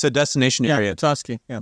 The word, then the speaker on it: Petoskey: Petoskey. Yeah. Petoskey.